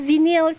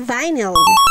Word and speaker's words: vinyl: ay wallpaper at saka vinil tiles wow vinil tiles nga mga mga momshies pero ang tamang pronunciation nga daw dito ay vinyl Kaya nga Simula nga